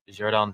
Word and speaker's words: Xherdan: Xherdan Shaqiri.